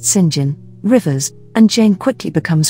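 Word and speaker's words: St. John: are mary diana and saint john pronounced sinjin rivers and jane quickly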